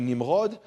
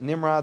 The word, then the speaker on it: Nimrod: Maybe because we pronounce, anyway, his name is actually Nimrod, but anyway, and if you pronounce it Nimrod, that's kind of a Nimrod thing to do, but Nimrod was called that because, why?